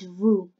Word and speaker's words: vous: But in French, it's vous. Again, it applies the same rule. The last letter is silent.